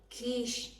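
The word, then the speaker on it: quiche: ก็ คือ Q U i c h e kish นะ คะ อัน นี้ สำหรับ 2 คน อัน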